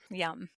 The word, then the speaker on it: Yam: it's it's y m it looks like yum but you pronounce it yum like yummy and you say it